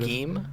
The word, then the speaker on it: Beheeyem: I would love Beheeyem. It's a really weird pick, but it's one of my favorite Pokemon these days because of. Is it not competitive. Beheeyem?